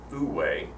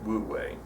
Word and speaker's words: wu wei: if you do this you achieve would way some people pronounce it food way but the majority go with woot way and the way you